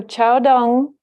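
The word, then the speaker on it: Caodong: many people believe that, so Chaodong is the way that it's pronounced in Chinese, the name of this school, Soto in Japanese, Chaodong in Chinese.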